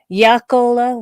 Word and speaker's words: Jaakkola: Would be like Yakala? Jaakkola would be the original, or Jaakko, I guess, is how it started out, which is basically the Finnish version of Jackson.